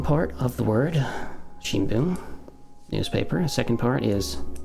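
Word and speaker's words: 聞: part of a word shin boom and it's pronounced boom in that case and you can see it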